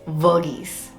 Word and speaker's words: Verghese: that you all know uh it's pronounced as virgis okay they're two spellings of this name one is v-a-r-g-h-e-s-e which is the more common one um and that is pronounced as virgis and since this is v-e-r it's virgis i hope you guys can find the difference so it's vergies